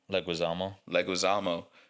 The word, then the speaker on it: Leguizamo: Leguizamo.